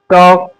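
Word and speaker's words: talk: डी एफ के और एम से पहले अगर एल आए तो एल साइलेंट होगा। जैसे कुड वुड कफ हफ टॉक वक कैम और ये बम इस तरीके से ए एल साइलेंट होगा।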